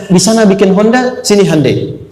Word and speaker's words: Hyundai: Kita bisa kita dari TK sehingga ketika di sana bikin Honda sini Handai. Hyundai kan dibacanya Hande ya kan.